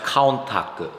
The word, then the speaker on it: Countach: Oh, I see a couple Countachs here. This is a prototype Countach. Prototype Countach. L150. In Japanese, by the way, it's pronounced Kauntaku.